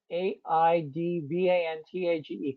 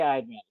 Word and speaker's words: Aidvantage: I've got to say how do you say Aid Vantage right because it's AI prevent I just say I advantage good good awesome uh